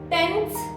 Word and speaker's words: tenths: Tenths, hundredths. TH you have to pronounce. So it is tenths, hundreds.